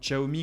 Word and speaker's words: Xiaomi: le petit logo émis alors oui je sais que xi a omis se prononcent théoriquement zhao me quoi qu'il en soit